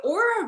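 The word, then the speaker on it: Oura: to know okay so the aura ring has come a really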